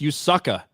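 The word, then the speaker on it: Yasuke: it I guess uh his name is actually pronounced usaka someone says thank you MJ anim chains for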